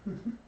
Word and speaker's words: Hum: that's this one and it is pronounced like this hmm okay so that sound